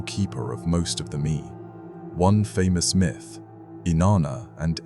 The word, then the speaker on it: me: A key concept in Mesopotamian cosmology was the idea of me pronounced me.